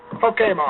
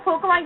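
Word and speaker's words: Pokémon: Pokemon. Technically. Technically, it's pronounced Pokemon. That's the Japanese pronunciation.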